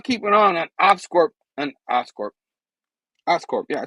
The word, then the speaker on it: Oscorp: Oscorp, yeah, I said it right.